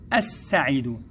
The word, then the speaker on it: السعيد: اللام هذه يا أبنائي تكتب ولا تنطق، نقول السعيد الس، لا نقول ال، لا ننطق اللام يا أبنائي لأنها لام شمسية، وإنما نقول الس، فهي لام شمسية.